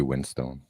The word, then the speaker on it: Winstone: it on purpose because everyone gets his name wrong it's actually Windstone this winter quietly in Henry Cavill no Ray Winston it used it used